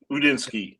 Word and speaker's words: Udinski: Udinski is how you pronounce it.